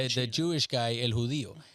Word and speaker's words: judío: Yeah, Judío.